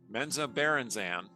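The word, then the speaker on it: Menzoberranzan: And I'm pronouncing that Menza Berenzan because that's the way Bob Salvatore pronounces it.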